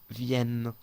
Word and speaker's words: viennent: Viennent, la base es viennent. Luego se pone la terminación como siempre, ENT. Una cosa más que quiero decir, ENT no se pronuncia on o ent, no se pronuncia así, se pronuncia ¿ok?